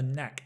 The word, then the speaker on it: knack: for to have a knack I know there's a k but don't pronounce the k it's N N neack